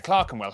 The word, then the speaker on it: Clerkenwell: ER is pronounced R. Berkshire, Clerkenwell, Hertfordshire. But before you get too